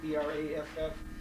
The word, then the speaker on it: Braff: The German, the German pronunciation of W is F. F. F. It's like a bond. W is F. So it was Braff was our name, really.